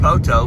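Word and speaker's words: Poteau: Um, yeah, we're on our way to Poto, Oklahoma. For those of you nonokeies, that's pronounced Poto, but it's spelled P O T E AU.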